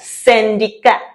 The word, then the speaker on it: syndicat: We can look at syndicat syndicat is a syndicate.